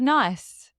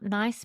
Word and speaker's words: Nice: Nice biscuit. But I think it's pronounced niece.